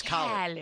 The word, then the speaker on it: Khaled: Is it Khalid? Yeah, Khaled. DJ It's Khaled.